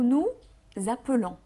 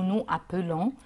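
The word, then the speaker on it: nous avons: يبقى هنقول افيك نو هيبقى اتنين مرتين نو، نو نو زابولون، نو نو نو نو زابولون. زابولون، ما داكور. قلتش نو نو ابولون، لا ايوه. عملنا الاس اتحولت لزد، هي غير غير مرئيه، هي مسموعه بس.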